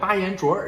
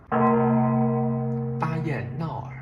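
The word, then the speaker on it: 巴彦淖尔: God, there are places like Bayanzhuoer in China. Bayannaoer, haha.” So I actually took a plane to go to this four-character place. I mispronounced the place Bayannaoer.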